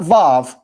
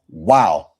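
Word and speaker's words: Waw: Not Vav. That's modern Hebrew. Modern Hebrew is Vav. No, it's pronounced Wow.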